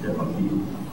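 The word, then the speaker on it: DeBakey: I think I can pronounce it correctly, Debeki.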